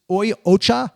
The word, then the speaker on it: Oi Ocha: and it helps me relax how do you pronounce the name of the company it's it's it's oi Ocha o Ocha are you guys listening out there you going